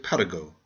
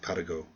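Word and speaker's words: Paragot: is the story of Parago the Beloved vagabond please pronounce his name French fashion and if I approve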